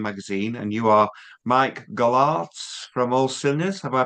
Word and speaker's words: Golarz: I'm Dale from Dale's Gig Reviews and Metallibil online magazine and you are Mike Galard from All Sers. Have I pronounced that right?